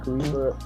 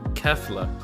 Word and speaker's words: Kefla: How you say it? Khalifa. Oh How no, you say it's Kefla.